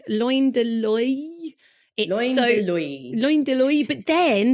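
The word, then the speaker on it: Loin de l'Œil: So when you say I in French, I in French is apparently pronounced oi. Oi. So I'm going to go with like loin de loy.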